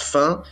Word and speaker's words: Fiennes: pourquoi en fait d'accord c'est que cff yen qui se prononce fin et veulent la rue